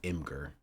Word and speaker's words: Imgur: First pronounced Imager? Nah, it's Imgur. It's Imgur for sure.